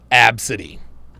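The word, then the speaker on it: Abcde: Ladasha I seen I've I've seen name spelled a b c d e pronounced absidy I just don't I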